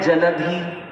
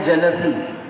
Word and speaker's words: जलधि: जैसे कुछ वर्ड्स हैं जलधि। आप लोग बोलते हैं जलसी।